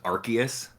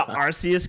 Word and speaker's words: Arceus: pokemon's name pokemon legends arceus with a hard k i'm in the arceus camp like i don't